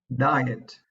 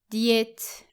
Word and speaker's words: diet: Sometimes we can actually hear it being mispronounced like this. Diet. It should actually be diet. Diet. Mhm. The word diet rhymes with quiet and it does not rhyme with regret.